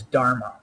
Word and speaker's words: dharma: The first word is dharma. It rhymes with karma, and it has to do with karma.